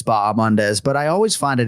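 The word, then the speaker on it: Bahamondes: gorgeous that silent yeah that H is silent that's the public service announcement for this week for uh ignasio B mandz that H you just kill it it's baam mandz but I always find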